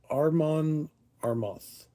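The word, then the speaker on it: Amon Amarth: I didn't know her that well myself, but you know, uh the Ravens Flight, Armon Armoth, A M O N A M A R T H to make sure I spell it so you can actually find it.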